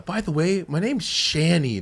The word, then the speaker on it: Chany: And then all of a sudden, people said Channy, which it could be like it could also be like the English pronunciation with CH. So it's Yeah. like, it's not like that bad, but I'd rather Yeah. the other one.